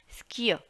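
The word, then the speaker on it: Skier: उसको बोलते हैं डी स्कीयर, डी स्कीयर, स्कीयर, क्योंकि आर जो है आर भी होगा, दिस कियर आर जो है बहुत प्रोनाउंसिएशन में नहीं आता, इसको प्रोनाउंस नहीं करते ज़्यादा, तो बोलेंगे डी स्कीयर।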